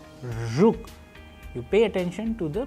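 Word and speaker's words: жук: be practiced with an english word approximation as we use in the word pleasure pleasure and in russian we have used another example like rook you pay attention to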